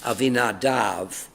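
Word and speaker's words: Abinadab: and conveyed it from the house of of Ainadab. How do you pronounce that name? Ainadav uh and and Vinadab's sons, Usuza and Ao.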